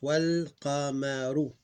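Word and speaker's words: والقمر: Clone this and connect the wa well, look how it's pronounced. Wal qamaru. Wal qamaru. You may see it written, but it's not pronounced.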